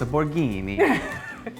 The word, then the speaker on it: Borghini: actually Borghini. This is Borghini? This is Borghini. Really? But you have to say it like this, a Borghini.